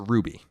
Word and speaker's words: RWBY: By the way, as far as Ruby is concerned, RWBY.